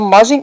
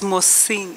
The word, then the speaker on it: Mosing: firstly, and secondly, the Mozzing affidavit to which reference is being made was deposed on 5/8/2015. It's Mosing, isn't it? We have tried to make sure that people's names are pronounced properly.